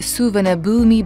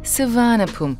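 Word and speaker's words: Suvarnabhumi: travel all the way to the airport in souvenir boomy Bangkok or as the thigh people pronounce it Savannah boom and here is the schedule it departures every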